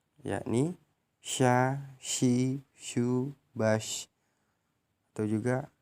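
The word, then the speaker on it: ش: Melafalkan huruf sya keluar dengan menyentuhkan tengah lidah dengan langit-langit. Diucapkan mengalir udaranya dan nafasnya, yakni sya, shi, shu, bash, atau juga shu, shan, shani, shashna.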